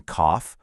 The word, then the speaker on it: cough: Sometimes gh decides to throw us a curveball and sound like an F, like in cough or enough.